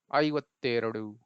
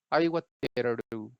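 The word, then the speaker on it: ಐವತ್ತೆರಡು: और ऐसे उच्चारण करेंगे हम वही same method. A आई means आई वत्तेरडू, okay. सो 52 को हम क्या बोलेंगे, आई वत्तेरडू, ओके।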